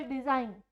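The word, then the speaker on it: design: Example, डिजाइन, डिजाइन में भी G की कोई भी साउंड नहीं आती है। क्यों? क्योंकि G के बाद जो है N फॉलो हो रहा है।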